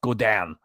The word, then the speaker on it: Godin: It's pronounced Godin. I don't know if it's a French name or not.